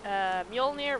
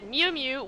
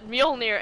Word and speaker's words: Mjolnir: And yes, Nikki, I said Mewmew because in the first Thor movie, Darcy said Mewmew when Thor said Mjolnir, and she was like, Mewmew? Because she couldn't fucking pronounce it.